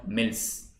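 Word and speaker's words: misls: Jathas and later called mills. There are multiple, small classes within the Sikhs, and these are known as mills. M-I-S-L-S, the S is silent.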